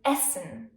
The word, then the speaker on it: Essen: Or short, as in Essen.